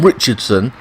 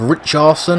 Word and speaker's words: Richarlison: Now I call him Richardson. He's pronounced Richarlison.